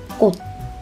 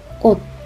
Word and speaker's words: 꽃: Yes, it doesn't produce ch sound. It will sound like 꽃, 꽃.